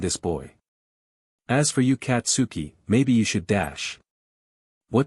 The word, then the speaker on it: Katsuki: says it right here katsuki bakugo it's pronounced katsky bakugo said ha Apple